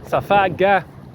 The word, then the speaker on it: Safaga: Safaga. Remember, the Egyptians pronounced the J as a K or a G. You know, Masjid, Gamal, Gamila. You see, Safaga.